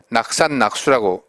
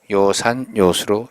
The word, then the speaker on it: 요산요수: 낙산낙수라고 읽으면 잘못된 것이죠. 이 한자만은 특별하게 요산요수로 읽어야 맞습니다.